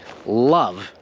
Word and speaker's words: love: end with silent letters like the word love we're not pronouncing the e in love instead we're pronouncing the v love and i want you